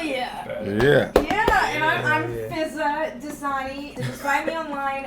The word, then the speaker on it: Fizaa: Yeah, and I'm Fizaa Dosani. Just find me online at Fizaa Dosani. One of the A's is silent, but just to remind you.